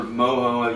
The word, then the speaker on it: mojo: ours we got this florida mojo rub or moho you pronounced it i say mojo but anyways it's real